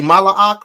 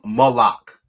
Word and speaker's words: Malak: Family, when we say Shalawam and we're calling someone a king, what do we say Mala'ak or do we say Shalawam Malak? Malak, not Malak.